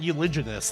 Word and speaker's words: uliginous: So it's like uliginous then. That's how it should be pronounced, right? Is uliginous?